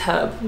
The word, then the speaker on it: herb: put that on that herb Americans say herb that's wrong I don't like this the next day hub its hub guys I can't get behind